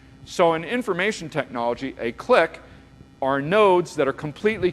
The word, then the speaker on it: clique: is the maximum clique it's pronounced differently sometimes click sometimes click okay but click is the more generally use term a click you